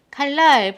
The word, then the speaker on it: 칼날: 자, 다시 칼날 보시면 어떻게 됐죠? 칼날 앞에 받침 리을 때문에 뒷소리가 리을로.